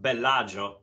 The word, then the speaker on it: Bellagio: which by the way it should be pronounced Bellagio because it's an Italian name but me coming from